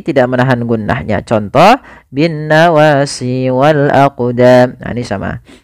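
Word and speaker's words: والأقدام: qamariah kemudian pfal aqdam di sini ada huruf qf yang disukunkan maka ketika ada huruf qf atau yang semisalnya yaitu huruf Qalqalah maka cara membacanya yaitu kita memantulkan huruf qnya yaitu kita pantulkan Maaf kesalahan yang terjadi sama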